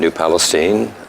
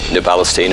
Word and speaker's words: New Palestine: Yes, I was calling it Stein, and they said no, it's Steen, and I said then spell your last Spell it name with a differently. Take the I and E out, put 2 E's and an N in there if you want Steen, but they didn't go for it anyway.